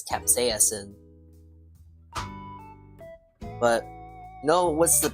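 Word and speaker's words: capsaicin: it by the way it's not capin it's Capas in but you know what's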